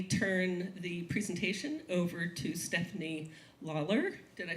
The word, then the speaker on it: Stefanie Lalor: So, that said, let me turn the presentation over to Stephanie Lawler.